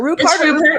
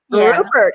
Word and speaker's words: Rupert: would like to welcome my lovely guest angel rupart am i pronouncing it is it rupert yes rupert and she is an angel i love her